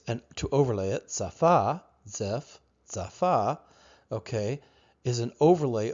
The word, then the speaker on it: Ziff: The idea, tzaphah, okay, zaphah, zaf-ah, ziff. Joseph Smith is sounding out phonetically a Hebraic word, zif, an overlay, something that is overlaid.